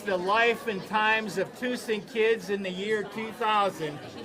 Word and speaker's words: Tussing: So on this inaugural T-shirt, we had the number 2 and the word sing on it to get people to change the pronunciation from Tussing to Tussing, which we support today.